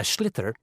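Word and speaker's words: sliotar: this ball called a schlitter that's s l o t a r so it's not spelled the way it's pronounced you hit it into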